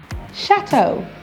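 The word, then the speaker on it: Château: Chateau. EAU is pronounced O in French, so it's pronounced chateau.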